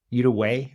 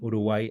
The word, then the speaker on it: Uruguay: Uruguay, I think it's the way you pronounce it in English.